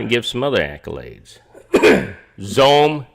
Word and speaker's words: Xome: Zome did an about face today that's spelled XOME, X-Ray Oscar Mike Echo.